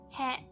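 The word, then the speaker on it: へ: Our next character is he he but as a particle it should be pronounced as e.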